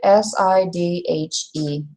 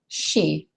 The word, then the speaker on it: Sidhe: It's a Gaelic word, S-I-D-H-E. Sidhe. Like he, she. But initially you're going to want to pronounce it Sidhe.